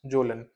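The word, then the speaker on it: Kjølen: इसमें we have example of mount zone we write as के जे O double L ए एन बट इसको pronounce करते हैं एज जोलन this is इन द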